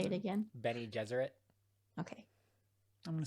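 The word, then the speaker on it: Bene Gesserit: how you say it yeah say it again benny deseret okay i'm gonna say ben not what i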